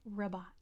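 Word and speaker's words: Rabat: it is not maresh it is rabot it's almost spelled like robot but it's all a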